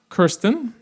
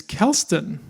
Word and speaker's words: Kelston: Uh I've also been told tonight that this first word is not Kirsten, it's Kelston. Learn something every day. And she's our next speaker. Kelston Reynolds. She's an artist. Uh, Kelston uh creates large-scale theatrical